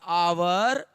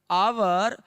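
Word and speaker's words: hour: लेकिन इसका उच्चारण करिएगा बाबू तो आवर का उच्चारण इस प्रकार से होता है, आवर। आवर, अ का उच्चारण आ रहा है और अ से उच्चारण वाले के पहले क्या लगाते हैं बाबू?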